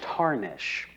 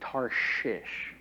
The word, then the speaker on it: Tarshish: Now, whenever I was reading this, I originally pronounced Tarshish as Tarnish. So as I was rehearsing this and practicing it, I would always have to enunciate Tarshish.